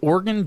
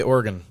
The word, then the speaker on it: Oregon: we've been saying oregon oregon we've been saying oregon and it's more like oregon like organs yeah like i'm an organ donor organ not organ or